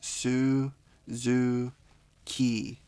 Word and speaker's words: Suzuki: So again, with the word Suzuki, we have the vowels U and I, and it's Su, Zu, Ki.